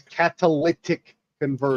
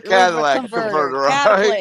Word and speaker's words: catalytic converter: I'm just G okay let let me pronounce it for you it's catalytic converter yes yeah well listen caly C I call a Cadillac converter it's a to me